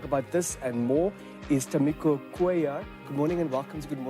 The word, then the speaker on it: Tamiko Cuellar: Tamiko Cuellar.